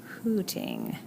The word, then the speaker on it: Hootington: Hootington. I'm going to spell it just like it sounds. See? Get who, like the question who, instead of who, like H-O-O.